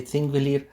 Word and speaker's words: Þingvellir: The name Þingvellir, pronounced roughly Thingvellir, means Parliament Plains.